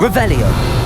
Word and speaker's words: Revelio: saying it wrong. Revelio. Ugh, Revelia. Much better.